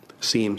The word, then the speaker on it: SIEM: The Auditor General also highlighted our project to develop a Security Information and Event Management System, or SIM for short. SIEM, some people pronounce it.